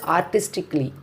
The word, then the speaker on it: artistically: Here we see, first one is artistically. Artistically, we should not pronounce like artistically, not artistically.